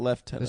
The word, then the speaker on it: lieutenant: the or the Army what about left tenant that's just how the British say Lieutenant well that's I say